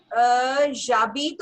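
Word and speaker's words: j'habite: We know H जो है वो एक साइलेंट है, एंड ऑल्सो हम इसको फिर कॉन्ट्रैक्ट कर लेते हैं, तो this will become जाबी. Okay. So this is हाउ we write in French जाबी.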